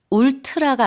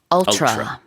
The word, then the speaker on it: ultra: 발음만 주의하시면 될 것 같아요. 울트라가 아니라 ultra.